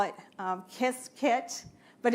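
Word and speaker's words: Qiskit: on to ibms um they call it um kiss kit but it's spelled QSI kit T and take the intro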